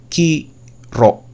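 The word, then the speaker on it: Chi-Rho: Jadi kalau kalian ngelihat ada sistem simbol seperti ini, P dengan X itu sebetulnya dibacanya Kiro gitu, atau nanti disebutnya sebagai Kreston kalau mereka tuh.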